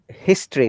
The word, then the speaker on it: history: is that you know you can see the o after t it is a schwa sound if you remember schwa